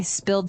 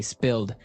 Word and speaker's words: spilled: So I spilled some milk. Okay, spilled. Now, it's pronounced differently from spell, right?